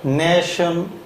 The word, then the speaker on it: national: 그래서 national 하게 되는데 이때 발음이 네 하고 이게 발음이 단모음이 됩니다. 네이 하고 짧을 때는 이 정도로 길게 발음하다가 좀 더 길어지니까 national 하게 됩니다.